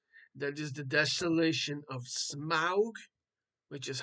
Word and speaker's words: Smaug: That is The Desolation of Smaug, which is how you say it.